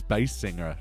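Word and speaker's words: Basinger: Baldwin and Kim B bass singer I actually wrote it down it's actually pronounced as bass singer right that's how she says it herself Alto tenner Binger he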